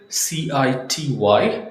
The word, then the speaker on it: city: C I T Y. City. No city. It's city. City.